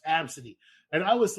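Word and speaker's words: Abcde: And I would have their fucking name is literally pronounced Absidy.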